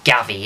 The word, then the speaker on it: Gavi: is it gavi i i thought he's spanish so i don't know if he's pronounced like chevy but it's not it's not chef it's not an x is it i'm gonna go with gavi to me it's gavy it is a g javi who knows but